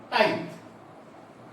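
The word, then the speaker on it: tithe: टैक्स का नाम है टाइथ। याद रखना है, 1 मार्क्स में ये क्वेश्चन अक्सर पूछता है कि टाइथ क्या था, व्हाट वाज टाइथ। कई लोग टीथे भी बोलते हैं इसका प्रोनाउंसिएशन।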